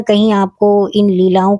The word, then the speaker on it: Leila: मिलेंगी जिसका नाम है लीला। जी हां, बिल्कुल सही सुना आपने। लीला। हालांकि कुछ लोग हो सकता है इसे लैला भी प्रोनाउंस करें। लेकिन मैं तो इसको लीला ही बोलूंगी क्योंकि वाकई जो इसमें